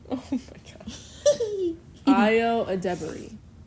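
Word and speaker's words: Ayo Edebiri: Hi, Io Debris, 5'6.5". Io Adebari. That's her name. Oh my god. Io Adebari. That's how you pronounce it.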